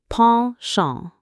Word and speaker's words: penchant: Let's say this fun French word again, penchant. Ponchon. It sounds like ponchon.